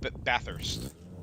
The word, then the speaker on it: Bathurst: Bathurst. Bathurst. Yes. You don't pronounce the H twice. Yeah, Bathurst.